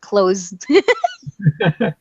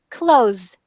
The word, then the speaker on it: clothes: that Ken can go to sleep dreaming about clothes okay here we go clothes clothes clothes clothes clothes clothes mm-hmm I want to